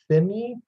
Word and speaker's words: thyme: How do you pronounce thyme, thyme? How do you pronounce this word? It sounds like time.